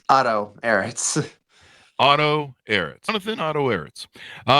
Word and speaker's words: Ehritz: Is that the correct pronunciation of your last name there, Johnathan? It's Otto, Ehritz.